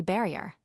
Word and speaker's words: barrier: in the elephant 223 barrier pronounced like the French barrier as a word of two syllables with the accent on the last 226 sense thought sensation